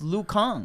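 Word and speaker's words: Liu Kang: i thought it was lou kane you thought was lukan yeah it's because it's you have to pronounce it the way asians will pronounce it right it's lu khan so how would you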